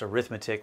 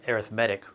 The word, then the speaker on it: arithmetic: to pronounce arithmetic this word here uh it's pronounced arithmetic when it's a noun and it's pronounced arithmetic when it's an adjective talking about sequences in